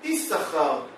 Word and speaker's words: Issachar: Bene Issachar, ça s'écrit Yud, Shin, Shin, Chaf, Resh. Mais ça se lit pas Shin, Shin. Issachar. Ça se lit Issachar. On prononce un seul Shin.